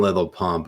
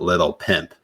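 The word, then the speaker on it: Lil Pump: his rally in Florida he pronounces it little pimp and like has no idea that he's getting wrong oh God that was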